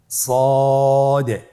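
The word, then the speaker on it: ص: সদ হরফটি পুর হরফ। মোটা হরফ উচ্চারণ ক্ষেত্রে মোটা করে পড়তে হবে এবং উচ্চারণ করার সময় তিন আলিফ টেনে পড়তে হবে।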